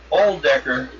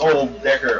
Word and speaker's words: Old Decker: He'll give you the name of the All-Decker It's Old Decker, although it is spelled OLD, but it's more emphasis on the Decker.